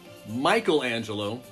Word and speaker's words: Michelangelo: Leonardo, Donatello, Michelangelo is how you pronounce it, but Michelangelo, and Raphael. There you go. Leonardo, Donatello, Michelangelo, and Raphael.